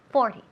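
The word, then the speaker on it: forty: ¿Dónde lleva el énfasis? Pues en la primera sílaba, in the first syllable. 40.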